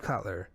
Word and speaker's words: Kotler: had where going back to, how do you pronounce the last name? Steve? Is it Kotler? Yeah, Steve Kotler.